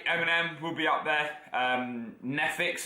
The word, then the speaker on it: Neffex: Now, I've got to say Eminem will be up there, Neffix as well, which is spelled Neffex.